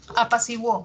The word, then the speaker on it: apaciguó: Apaciguó. ¿Qué pasó en apaciguó? Hago el silabeo, separo en sílabas, encuentro un diptongo creciente, de cerrada pasa abierta, siguó, wo, ¿no? Ahí sí suena la U.